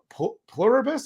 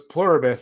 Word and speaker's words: Pluribus: Plurus, I think it's pronounced. It's like you know the the saying plurus unum on the Yeah. So it's pluribus.